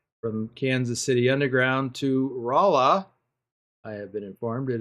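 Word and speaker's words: Rolla: I did a special special transport load from Kansas City underground to Rala. I have been informed it is pronounced Rala by Willie. Um and then took another load from Rala to St.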